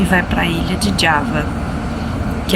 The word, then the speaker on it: Java: Indonésia e e aqui a pronúncia Indonésia é d então por isso que a gente não fala Java é Java e nem jakarta é jakarta